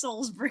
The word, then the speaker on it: Salisbury: going to read that Salisbury Salsbury Salsbury because we're British and we don't we don't pronounce things correctly it's Salsbury our language has clearly